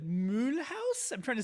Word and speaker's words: Mulhouse: Cuz the name is spelled in German. It's Mulhouse is the name of the town in French, but it's still spelled in German. And in German English, you would say Mulhouse.